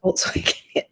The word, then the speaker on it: Volkswagen: names, Germanic names with a hard W and V, like it's Volkswagen. That's how you say Volkswagen in German. French speakers can't say that properly. So Guyot was the name. Like Volkswagen.